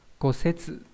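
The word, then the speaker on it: 骨折: Kosetsu là gãy xương đúng không nhỉ? Đọc là setsu nhá.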